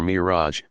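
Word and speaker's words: Mi'raj: From a spot nearby Muhammad began his ascension or Miraj, pronounced Miraj.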